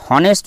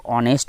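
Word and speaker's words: honest: আমরা এখানে হনেস্ট নয়, আমরা বলবো অনেস্ট বয়।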